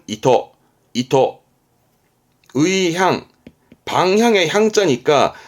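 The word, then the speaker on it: 意図: 발음은 이토.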